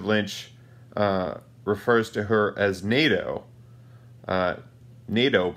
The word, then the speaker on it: Naido: refers to her as NATO Nieto pronounced like the the military alliance between the United States and European European countries and secondly I just